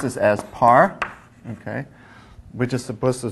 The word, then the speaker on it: par: written as a okay par beam so we pronounce this as par okay we're just supposed to suggest I think